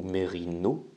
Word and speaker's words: mérinos: le mérinos et bien le mérinos ou merino parfois on ne prononce pas le s à la fin et bien c'est une